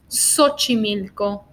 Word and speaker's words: Xochimilco: and then we have the pronunciation as an S Xochimilco so cheetah Xochimilco and